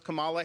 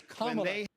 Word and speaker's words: Kamala: Joe Biden is in the pocket of the teachers union, and so is Kamala Harris. That's why they fought school openings when he came in there. It's Kamala. Kamala Harris versus Kamala.